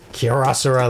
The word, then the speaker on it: Kyocera: Kyocera, like a rhinoceros or triceratops.